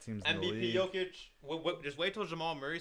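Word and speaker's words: Jokić: The door for Jokic because those are the top 2 guys. It's Jokic.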